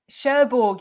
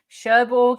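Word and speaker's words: Cherbourg: that i cannot pronounce sherborg is how i've always said it um what people in france think of that pronunciation i don't know that's how i would say it and well done to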